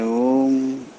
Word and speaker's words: ஓம்: இந்த ப்ரொனவுன்ஸ் பண்ணும்போது ஓம் அப்படின்னு சொல்கிறது தான் ஓவி ஒவல்ஸ்ன்னு சொல்லுவாங்க ஆங்கிலத்தில். அந்த ஒவல்ஸ் அந்த சவுண்டு வந்து இம்ங்கிற வார்த்தை தான் ரொம்ப ரொம்ப முக்கியம். இம்.